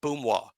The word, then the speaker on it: Boomwa: Steve Bolo Boomwa. B-O-O, like boom, wah.